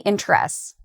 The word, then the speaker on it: interest: When we say it, interest, it tends to be 2 syllables.